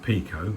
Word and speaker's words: PIKO: European tourist locomotive from pyo I understand you possibly should pronounce it Pico but so we don't get confused with Devon's finest um I'll stick with pyo for now now this one like